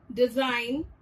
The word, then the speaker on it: design: G is silent whenever it is used before N. Example, nat, sign, design, sing, hang.